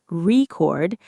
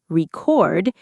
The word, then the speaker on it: record: If we stress the first part of the word, record, it's a noun, like a world record or a vinyl record. But if we shift that stress to the second part, record, it becomes a verb,